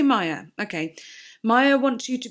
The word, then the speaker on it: Maya: mindless so true Maya did I say Mia earlier because M A but then it's actually spelled like Maya here I'm going to say Maya okay Maya wants you